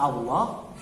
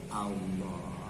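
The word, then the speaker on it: الله: Ingat, lam pada kata Allah bisa dibaca tebal, bisa dibaca tipis.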